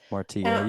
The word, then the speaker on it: Martillo: I don't know if they pronounce that a certain way. He did 3 deployments during Operation Martillo or Martillo. Martillo, yep.